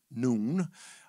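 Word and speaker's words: نون: It is pronounced noon.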